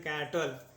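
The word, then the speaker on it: cattle: ल करेंगे ठीक है और ई यहां पे साइलेंट होगा य यहां पे साइलेंट रहता है ठीक है इसको पढ़ते हैं कैटल इसको क्या पढ़ेंगे कैटल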